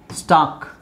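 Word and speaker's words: stalk: ಇದೇನಿದು should next ಇದು ಎಸ್ ಟಿ ಎಲ್ ಕೆ ಸ್ಟಾಕ್ ಎಲ್ಲಿ ಸೈಲೆಂಟ್ ಇದು ಟಾಕ್ ಟಾಕ್ ವಾಕ್ ವುಡ್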